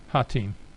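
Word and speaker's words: Hotine: Let's call it rotated Italy Hatin. And that's how you pronounce that word if you've never heard it pronounced before.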